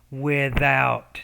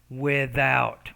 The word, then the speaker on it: without: efforts it is without so that th sound you got to work on i think that's pronunciation lesson 11 with without so you have to get the tongue in between the teeth then force the air and vibrate the vocal folds there without without it's